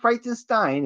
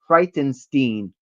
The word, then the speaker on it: Frightenstein: Yeah, it has to be uh it's not Frightenstein. It's actually supposed to be pronounced Frightenstein, you know.